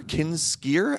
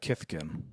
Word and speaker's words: Kithkin: Kinskier. How do you pronounce that? Uh, Kithkin.